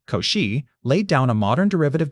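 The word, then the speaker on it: Cauchy: The foundation stayed rotten until the 1820s when Augustine Lewis Couchi pronounced Koshi laid down a modern derivative definition in his lectures at the polytenic school in Paris.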